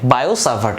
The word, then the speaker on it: Biot-Savart: This T is silent, Bioservart law.